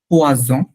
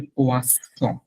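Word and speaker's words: poisson: পোয়াজন, পোয়াজন, আর এটার নাম হচ্ছে পোয়াসন। ডাবল এস হচ্ছে ছ, সিঙ্গেল এস হচ্ছে জ।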